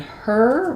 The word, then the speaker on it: her: hair is difficult and in her we just have the sound. So you can think of it as like bird or like turn or like her.